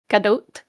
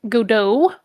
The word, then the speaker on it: Gadot: Um, just for everyone's information, just for whatever reason, uh, galadote gadote. It's a soft tea. It's not like gauo. It's not French.